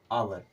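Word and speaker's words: hour: जाएगा हमारा साइलेंट जैसे एच ओ यू आर इसे ह नहीं पढ़ते इसे क्या पढ़ते हैं आवर क्या पढ़ते हैं आवर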